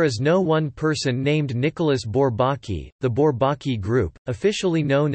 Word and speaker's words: Nicolas Bourbaki: Nicolas Bourbaki, French pronunciation, Nicolas Bourbaki, is the collective pseudonym of a group of mainly French mathematicians.